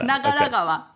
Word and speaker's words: Nagaragawa: yeah I tried to say this was sorry nagaragawa on Yes nagaragawa Yes gawa means a river in Japanese so